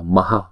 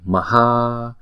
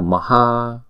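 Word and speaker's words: mahā: Chữ maha chắc chắn là chữ a sau này phải có dấu gạch ngang, cho nên chúng ta đọc là maha thay vì maha. Đúng là phải là maha, bởi vì chữ maha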